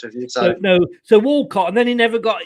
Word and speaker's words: Walcott: a young arsenal player walcott sorry sorry it's that northern accent you've picked up you see i thought you're saying wilcott i don't know like